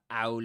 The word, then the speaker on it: owl: That's um that's called um glottal reinforcement, you know, because a word begins with a vowel sound um um you're making emphasis on it. So, when you do that in this accent, you produce a glottal stop. Usually, they they will produce a glottal stop, and it will sound like this.